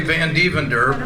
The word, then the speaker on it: Van Devender: thank you thank you he butchered my name it's actually van devender but it's a mouthful